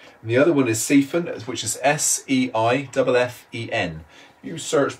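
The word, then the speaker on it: Seiffen: Obernhau is spelled O-L-B-E-R-N-H-A-U. And the other one is Siphon, which is S-E-I-F-F-E-N.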